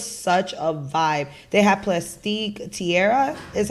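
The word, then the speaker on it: Plastique Tiara: and it was such a Vibe they had plastique Tierra is how you pronounce her name absolutely beautiful by the way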